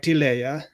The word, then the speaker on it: Tilea: But taking the name and pronouncing it in Italian, with trying not to be racist in view of the recent conversation, it would be more like Tilea.